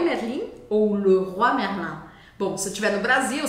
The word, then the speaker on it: Leroy Merlin: francês a gente fala le ro Merlin ro Merlin ro é uma palavra só mas antigamente é como se quisesse dizer o rei merlim ro Merlin Ro então é esse fechado ro Merlin que a gente tinha